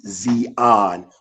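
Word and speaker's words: ציון: That's first of all that term Zion the Hebrew word to way to pronounce it would be Zeon which means dry land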